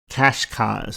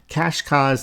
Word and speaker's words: Cascais: Next, I believe you pronounce this Cascais. I know if I spoke Portuguese, it would sound different, but Cascais, that's Cascais.